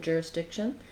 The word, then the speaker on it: jurisdiction: Watch out that you don't make this a tense E sound, but rather a lax I sound. Juris, not juris, juris. Letter S does say the S sound in jurisdiction. Then I get to the diction syllable. It's actually just like the word diction, where I have the lax I sound. My TION ending just sounds like shun. Almost no vowel there at all.